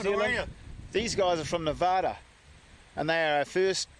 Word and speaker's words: Nevada: These guys are from Nevada, and they are our first Nevadans. Is that how you say it? It's Nevada. Nevada. Yeah, Nevada. That's for the east.